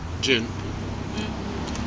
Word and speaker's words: Djinn: So the gin or however you pronounce that jin.